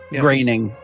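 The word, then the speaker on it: Groening: You know that one by Matt uh Matt is it Matt Graining? Is that like how you pronounce his name? Graining. It's not how you think you should pronounce it.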